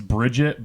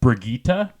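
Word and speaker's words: Brigitte: a route so it's Bridget but it's pronounced brigita because it's like polish or something yeah she looks cool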